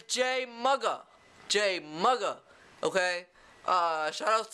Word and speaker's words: JMuga: You just been mugged, right? So it's Jay Mugga.